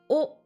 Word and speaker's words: を: le hiragana W mais comme c'est une particule en général il se prononce plutôt o donc il y a pas le W on le prononce pas